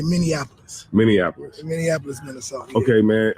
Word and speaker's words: Minneapolis: I had it wrong everybody says miniapolis because of Indianapolis Indianapolis is how you say that but uh in Minnesota you say Minneapolis Minneapolis Minneapolis Minnesota okay